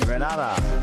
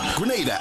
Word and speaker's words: Grenada: So today, like we German say, we are in Granada. But I heard in English it's called Grenada. Say it right. Grenada. Say it right. Grenada. That's right. Grenada. There we go. Say it right. It's not Granada.